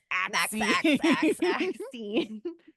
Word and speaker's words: MaXXXine: You have to pronounce it like that, because there's MaXXXine, because there's 3 X's in it, if you didn't know.